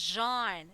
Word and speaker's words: Jean: for this one others they pronounce it as Jean since it's a French name okay now let's have